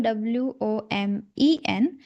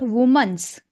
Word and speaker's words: women: When that is plural, WOMEN, we pronounce it women, not woman's.